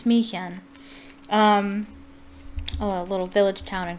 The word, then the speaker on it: Smiljan: what Tesla's hometown was, and that was Smychan. I believe that's how you pronounce it. I looked it up. Smychan? I think it's Smychan.